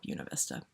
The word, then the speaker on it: Buena Vista: It looks like it's Buena Vista. It should be Buena Vista, but they call it Buena Vista because people pronounce things weird when it's their town.